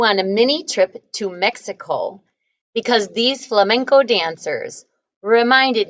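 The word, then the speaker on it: México: are right now and mexico or mexico which is what how they pronounce it that's where frida was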